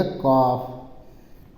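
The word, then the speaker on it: calf: है जर्दी है ना सी ए एल एफ सी ए से का पराग मंत्र का सी से सा भी बनता है का भी बनता है है ना तो हम यहां का लिखेंगे का पराक मांत्र का और ल साइलेंट रहेगा तो फफ खाली लिया जाएगा तो फफ से फ हो जाएगा कफ और कफ मींस होता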